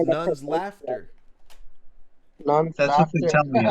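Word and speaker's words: Nunslaughter: none slaughter. None slaughter, yes. It's actually pronounced Nun's Laughter.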